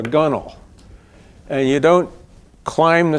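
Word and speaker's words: gunwale: Sailors call it folkal it's spelled gun whell but you're supposed to call it a gunel and you don't climb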